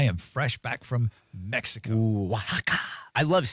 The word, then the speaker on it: Oaxaca: final destination is um oh what is this oaka Ooa yeah I like it's pronounced Waka um but yeah back from Waka and one